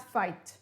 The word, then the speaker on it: fight: new words for today they all sound like an i long i and you do not pronounce the g and the h now in order to